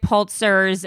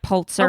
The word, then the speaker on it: Pulitzer: So she went to Joseph Pulitzer's newspaper, the New York World. I'm pretty sure Joseph Pulitzer is like Pulitzer of Prize. the Pulitzer Prize. Okay, you keep saying Pulitzer instead of Pulitzer.